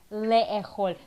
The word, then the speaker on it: לאכול: But if I say it, it sounds... Who can give another try? לאכול. Le'echol. That's the big challenge of Hebrew, to get the vowels right.